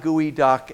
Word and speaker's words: geoduck: The word Geoduck is spelled in this ridiculous way. It is a Nisqually Indian word that means dig deep, which is what these clams do, and they dig very, very fast. The English speaker who transliterated Nisqually and several of the other was just a horrible speller. And so you find words like gooey duck and hundreds of others just really, really butchered in terms of their transcription into English.